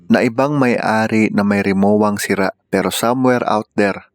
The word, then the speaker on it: Rimowa: Tunay ang free repair ng Remoa. Ang bigkas ng mga Germans sa German brand na ito ay remova.